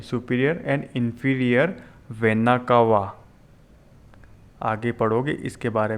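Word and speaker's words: vena cava: Superior and inferior वेना कावा। आगे पढ़ोगे इसके बारे में, वेना कावा। स्पेलिंग में वापस एक बार लिख देता हूँ, VENA, वेना, CAVA, वेना कावा।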